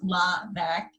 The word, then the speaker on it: Laura LeVesque: to pronounce laugh name so it's pronounced la Becque and i am the